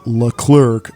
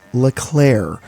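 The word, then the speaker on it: LeClerc: There are only two of them, Nenah and L. Clerk. Hello, future Brian I here. After re-watching Rebirth for the fourth time, I, an undereducated American, have realized his name is not L. Clerk, but pronounced Llair.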